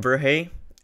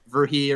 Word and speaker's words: Verhey: here with kevin is is it verhey did i say it right yeah that's absolutely right you nailed it well done most people they like verhee or something like that and you've got it absolutely correct um uh i